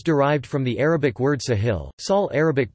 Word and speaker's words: ساحل: The name is derived from the Arabic word Sahil, Sahel Arabic pronunciation, Sahil meaning coast or shore in a